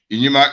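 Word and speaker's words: Inyima: name but it is a different name from inyama inima is spelled i n y i m a they are two different names and they do from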